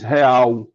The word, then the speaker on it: real: Nordeste principalmente, é que o L final, no final de sílaba, geralmente vale por uma semivogal. Então você diz real, mas está escrito com L.